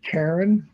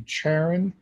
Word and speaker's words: Charon: Now, there's controversy about how to pronounce that, and I looked it up several times, and there's three ways that are correct. It depends on who's saying it. It can be Charon, it can be Charon,